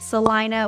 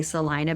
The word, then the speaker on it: Celina: of I don't know why they pronounce it Salina when it's obviously spelled Selena but we're just going to go with it and we're going to say Salina because that's how they